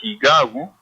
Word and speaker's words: Higabu: Higabu, dado a la pronunciación, se escribe con H, pero al pronunciar es con J.